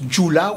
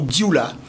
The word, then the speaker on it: Dioula: On prononce djoula ou dioula.